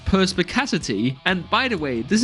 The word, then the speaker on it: Perspicacity: am almost certain that I will pronounce this perspaghettity it is in fact called perspicacity and by the way